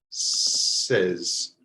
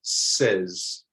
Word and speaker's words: says: or it says so this word is pronounced like the beginning of the word reservation res reservation says try it out says okay the next a